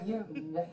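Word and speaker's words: Jung: that tonight but anyway Carl Yung is the official PR pronunciation but who would know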